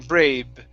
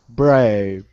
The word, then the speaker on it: brave: next up is uh the word brave with the v sound okay brave rape okay now i pronounce a v you're pronouncing a b saying braid okay so your top teeth need to go on your bottom lip brave brave okay all